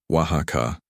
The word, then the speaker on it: Oaxaca: She pronounced it the proper way, Oaxaca.